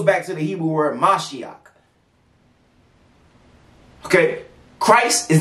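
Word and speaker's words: משיח: English stole from everybody it's a Hebrew word mashiach it's how you say it in Hebrew ancient Hebrew not Yiddish not the the Jewish people speak paleo Hebrew is mashiach and it means anointed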